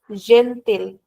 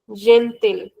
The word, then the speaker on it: gentil: So once again in European we will call this gentil. Just like it is written gentil.